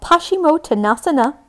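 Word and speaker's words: Paschimottanasana: if you don't want to this is called pashimo tanasana which i think is outrageously fun to say please say hashimoto nasa na say it like you're shocked we're gonna hang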